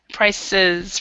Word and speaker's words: prices: continuous increase in price prices remember when it's when it's like this prices so that e is is not silent in this respect okay so what would